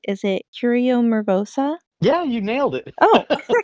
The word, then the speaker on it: Curio Mervosa: Your bookstore, I hope that I pronounce it right. Is it Curio Mervosa?